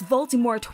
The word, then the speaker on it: Voldemort: For the first several novels, Jim Dale, the narrator of the Harry Potter audiobooks, appropriately utters Voldemort with a silent T.